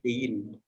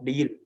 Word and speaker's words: değil: Contohnya deil. Cara membacanya apa? Yumusaki ini istilahnya kayak apa ya? Apa tenggorokan kita tuh agak mendengung gitu loh, deil. Istilahnya tidak dibaca dengan jelas, kayak dongeng gitu kan.